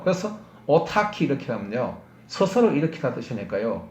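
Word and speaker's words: autarky: 철자가 이제 CH가 아니고 K라는 말을 쓰는 거예요. 같이 크랑 발음 똑같은 거예요. 그래서 오타키 이렇게 하면요.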